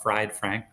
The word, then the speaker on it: Fried Frank: at free frank uh it's spelled fried frank like a corn dog um you can